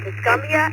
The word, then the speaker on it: Tuscumbia: All right, we're going to head it on down to KO4 CLD Micah in Tuscumbia, Alabama. I hope I pronounced it right.